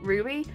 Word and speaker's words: RWBY: as we have RWBY I think actually you pronounce it Ruby one two and four